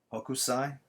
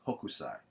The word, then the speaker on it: Hokusai: If I'm not mistaking his name, it's Hokusai or Hokusai. Yeah, it's Hokusai. All right, like in English you say Hokusai, but I'm pretty sure in the Japanese it's Hokusai.